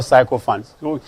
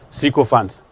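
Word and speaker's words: sycophants: actually c co funds don't forget that that was not psycho funds so my name is pronounced he's not psycho fantasies sql funds sql fund please check in your dictionary again sql funds it's commonly missed by very many people oh yeah many psychopaths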